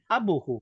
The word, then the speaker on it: abuhu: Bukan abuhu, bukan. Tidak boleh pendek. Dibacanya ada matobi'i kalau belajar tajwid.